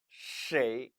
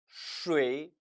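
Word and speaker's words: 谁: 오해할 수도 있단 얘깁니다 따라서 이 단어는 쉐이 또는 스웨이 의로 도 발음이 되는 다는데 사실상 어느게 맞는 발음 인지 이제 구별이 안 돼요 그래서 중국의 표준 국어 협회에서는 쎄이 를 표준 발음으로 정합니다 하지만 나이 드신 분들 또 지방 있는 사람들 수많은 사람들이 수의 로 도 이미 발음하는 데 익숙해져 있다는 거죠 그래서 2 발음 담았는데 표준 발음은 쉐이 로 정하고 스웨이 또 틀린 발음은 아니다 따라서 그렇게 읽을 수도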